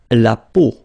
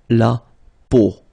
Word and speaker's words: peau: But then, so the sound that you will have to pronounce when you've got these three vowels combined together, it's the sound O. Okay, so really simple O.